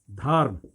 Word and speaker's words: धर्म: म पर लगा है मगर उच्चारण कहां होता है म के पहले यहां म पर लगा है म के पहले उच्चारण होगा तब जाकर के धर्म होगा ऐसे लिखा जाएगा अब